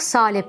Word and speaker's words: salep: söylemek gerekiyor Nisan ve salep kelimeleri salepte a sesi uzundur salep salebin orijinalinde ayın harfi vardır Zamanla sahlep şekl H sesiyle de dilimize yerleşmiştir ama günümüzde H sesi kalkmış Artık salep olmuş Nisan kelimesinde ise il